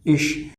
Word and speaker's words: ich: Before CH, if there will be I, then pronunciation of CH will be sh, sh. We can say SH or in Hindi we have wrote sh, right? So, before CH there is I, pronunciation of CH is sh. All over pronunciation of this word is ish.